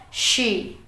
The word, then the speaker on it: she: teman-teman yaitu dengan kata she hati-hati she harus seperti suara swing teman-teman kalau teman-teman melihat huruf s sama h dalam bahasa Inggris itu suara swin jadi teman-teman harus mengatakan she sekali lagi jangan sampai